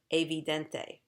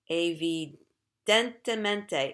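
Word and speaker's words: evidentemente: obviously and i said avidente abe dente is wrong a v dentimente is correct so i i was missing one syllable in the word i think it's gonna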